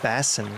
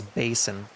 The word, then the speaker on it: Basin: it was is it I've been saying Bassin I think it's Basin Stellar Basin uh so thank you to the person corrected my pronunciation we'll go to Stellar